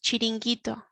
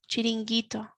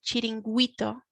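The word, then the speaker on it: chiringuito: the spanish beaches and the pronunciation here is chiringito chiringito you can't actually hear the you otherwise it would sound like cheating wito and it's not cheating it's chilingito and the reason for that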